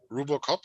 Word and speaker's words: RuboCop: How do you pronounce that? Is it RuboCop? RuboCop, yeah. RuboCop. Yeah. Okay. Like Ruby cop.